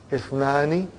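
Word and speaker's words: اثنان: take note of it that is if it is if if it comes in the beginning it is pronounced if it doesn't come in the beginning then it is assimilated are you with me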